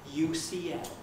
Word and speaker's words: UCL: it for a moment i know several japanese learners of english who say something much more like you shiel i thought it isn't